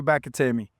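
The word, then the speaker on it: McAtamney: But the international fellow, how do you pronounce his name? Drew Bakatemi. Good. I see you're good on that. I go across this pond every once in a while. McAtamy, of course, one of the reasons the Giants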